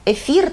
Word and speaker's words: ефір: зміни які допускають варіантність ось наприклад слова які походять з грецької і містять буквосполуку TH вони в українській мові пишуться і вимовляються із буквою ф і з буквою Т ну звук ф і звук т Ну наприклад ми говоримо кафедра і кафедра ефір та етер-міф і міф тобто тут